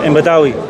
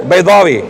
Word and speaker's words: Baydawi: Imam Badawi. Who? Right. Baydawi.